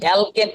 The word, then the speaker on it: অ্যালকিন: এবার আসি আমরা অ্যালকেন, এবার আমরা পড়লাম অ্যালকেন, এবার আমরা পড়ি অ্যালকিন। উচ্চারণটা কিসের মতো? ইন। উচ্চারণটা কিসের মতো? ইনের মতো। উচ্চারণটা ইন, অ্যালকিন।